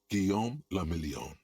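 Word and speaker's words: Guillaume Le Million: meant only one thing guillaume lamillion so you never progressed the game past day one if it doesn't rhyme you're not pronouncing it right out of the dazzling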